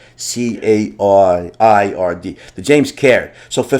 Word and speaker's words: Caird: That's a Scottish name. Is it Card or Caird? Do you know how to pronounce that, John? I believe that's Caird. Caird. Caird.